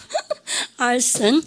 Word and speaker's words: arson: 그러니까 집 알선 이런 것처럼 이랬습니까? arson.